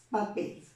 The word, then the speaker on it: papel: Si yo voy a separar en sílabas la palabra papel, palabra bisílaba, voy a reconocer que la mayor intensidad está cayendo en cuál de ellas, en la última o en la penúltima. Papel. Entonces, esta será la sílaba que marca la mayor intensidad. Por lo tanto, es la sílaba tónica.